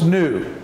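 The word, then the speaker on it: knew: And K and E is new. This is new. New. The K is silent, but the E, N-E-W, is new. New. New. And this word, new, the K is silent, and that's the same, the word sounds the same as the word new, as in a new shirt, a new marker, you know, a new car.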